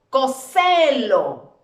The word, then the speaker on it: cóselo: Si yo digo cóselo, cóselo. No, ¿verdad? Cóselo. Recae sobre esta sílaba.